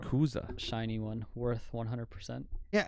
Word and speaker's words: Rayquaza: Rayquaza, right? Yeah. Or Rayquaza, whatever. I always I get got told that. I'm saying it wrong. Rayquaza.